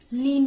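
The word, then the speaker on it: Kleene: के साइलेंट होता है, हम लीन बोलते हैं, लीन क्लोजर ऑपरेटर।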